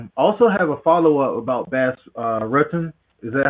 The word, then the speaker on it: Bas Rutten: Also have a follow-up about Bas Rutten. Is that how you say it? Bas Rutten. Bas Rutten.